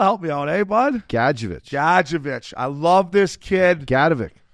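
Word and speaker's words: Gadjovich: Gadjevich.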